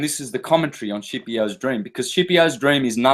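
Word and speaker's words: Scipio: the dream of shiio if you're Italian skipio for anyone else the dream of skipio properly pronounced shio now who was shio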